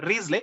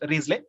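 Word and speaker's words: Wriothesley: riesling pronunciation is uh risley it is pronounced risley spelling w-r-i-o-t-h-e-s-l-e risley then others say maybe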